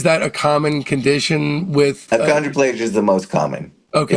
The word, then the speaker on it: achondroplasia: By the way, did I pronounce it right? Achondroplasia?